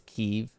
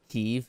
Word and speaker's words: Kiev: Kiev. Oh, am I pronouncing it wrong? It's Kiev. Kiev is how you say it. K-E-E-V.